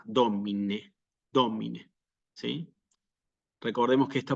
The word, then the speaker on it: Domine: no soy digno s la palabra domine también es una palabra de más de dos sílabas y se acentúa en la antepenúltima sílaba domine domine sí recordemos que